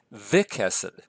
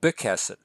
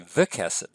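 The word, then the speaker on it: בְּחֶסֶד: So actually this should be batachti vikesed, not bikesed. I read it wrong. It should be vikesed. I'm very used to reading a hard B at the beginning of a word, but technically that should be vikesed with a V sound.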